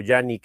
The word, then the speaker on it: Canik: Ah, ¿qué puedo decir cuando les dije antes que esta canic o yanik? Estoy demasiado acostumbrado a llamarla canic canic, pero sé que esa es la forma incorrecta de pronunciar ese nombre, pero bueno, ya se quedó así.